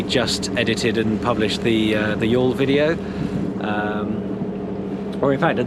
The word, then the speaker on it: Youghal: And the same with Youghal. We literally just edited and published the Youghal video.